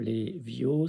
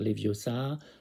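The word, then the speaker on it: Leviosa: il faut prononcer wingardium les VIOS ça en prononçant le prolongeant le O et non pas le a à la fin de les VIOS ça pas dire les viosa faut dire les VIOS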